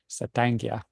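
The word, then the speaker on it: Satank: another war chief um his pronunciation of his name was saanga and he um it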